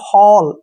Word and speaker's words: hall: अब जैसे next HALL, हॉल, ठीक है ना, हॉल, ऐसे।